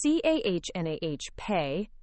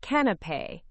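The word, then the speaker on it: canapé: It's c a h nah pay, not can pay.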